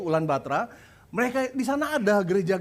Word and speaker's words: Ulan Bator: Anda ke ulang baterai tulisannya Ulan bator Tapi bacanya sama orang lokal yaitu ulang baterai mereka di sana ada